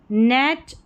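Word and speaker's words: knit: देखिए नाइफ, नाइट, नी, knock, और ये निट है, इसको नाइट नहीं पढ़ेंगे, इसको निट पढ़ेंगे।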